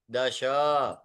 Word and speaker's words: दश: दश, हाँ, ना ना, दश, श शंकर वाला श, दश, दश, विंशतिः, विंशतिः, विंशतिः,